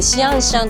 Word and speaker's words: 象山: ですけど、象山と書いてシアンシャンと読みます。